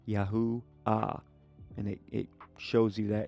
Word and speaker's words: Yahuah: In theophoric suffixes, the hey is sometimes dropped for grammar, but in the full name it appears, indicating the full pronunciation ends in a soft ah, Yahu ah.